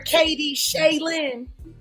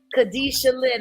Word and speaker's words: Khadijah Lynn: Yeah, remember I kept calling her Katie Shaylin. Yeah. So it's KADISHALYNN, I believe it is. Khadijah Lynn.